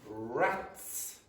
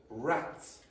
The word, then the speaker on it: rats: Okay, now, if I said to you, why is rats pronounced rats, and for example, lives pronounced lives? Why? Why is one of them pronounced with a z and the other one with a s?